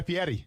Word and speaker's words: Fieri: Guy Fieri. Fieri. Fatty. Yeah, but Fieri? Fieri. but it's Ferry, so just stick with it.